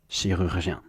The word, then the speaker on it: chirurgien: you break it down, you first get able to say each syllable on its own. Jien, jien, jien, rur, rur, rur, she, and then combine just two, not all of them. Chirurg, chirurg, chirurg, chirurg, chirurg, and then rurgien, rurgien, rurgien, rurgien, chirurgien.